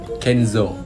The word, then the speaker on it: Kenzo: dan ini lebih gampang ini yang paling gampang kenzou yang kedua ini lumayan gampang dibacanya fms yang ketiga ini lumayan gampang balmond